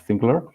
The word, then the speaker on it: SNGLR: I'm one of the founders of SNGLR, which is written SNGLR, but Tom perfectly pronounced SNGLR.